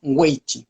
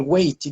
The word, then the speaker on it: wei chi: voy a tener algo que los chinos llaman wei chi. Eso se escribe W-E-I chi.